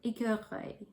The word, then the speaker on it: écureuil: So you kind of have to make that little sound when you're pronouncing this word, écureuil.